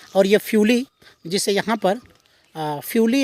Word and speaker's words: फ्यूली: पूरे जंगली इलाकों में आप जहाँ भी नज़र डालेंगे तो आपको ये फ्यूली, जो यहाँ का लोकल टोन है, प्रोनाउंसिएशन में फ्यूली बोलते हैं, वैसे प्यूली के नाम से भी जाना जाता है।